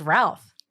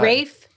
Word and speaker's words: Ralph: I'm looking at Oh, it's Rafe. It's pronounced Rafe. It's like almost like Rafe.